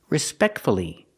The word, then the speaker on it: respectfully: Let's practice with respectfully, pronouncing the U. Fully. Fully. Respectfully.